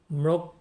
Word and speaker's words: ম্রক্ষিত: যে কৌশলটা আমরা বলি এখানে ময় এর সাথে র ফলা রয়েছে তারপরে রয়েছে খি আমরা যদি আমাদের খিয় যদি শব্দের প্রথমে থাকে তাহলে খ এর মত উচ্চারণ হয় আর মাঝে বা শেষে